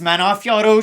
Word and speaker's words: Manon Fiorot: it is nice France's own the Beast it's pronounced manafiaro she's gonna be taking on Thug Rose namiunus